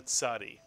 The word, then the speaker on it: Tzadee: It really is a very easy letter to pronounce once you think of the Mr. and Mrs. Katz, the ts sound, the Tzadee.